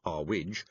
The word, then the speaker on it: Zwig: Mrs. Zwig, pronounced our wij pointed to a chair with griffin feet and crescent-shaped cushions.